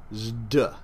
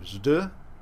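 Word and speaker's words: ζ: is like our Z it's called Zeta originally it was probably pronounced ZD Z we don't have many things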